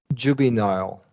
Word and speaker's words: juvenile: So all of these, that middle syllable vowel turns into a schwa because the middle syllable is unstressed.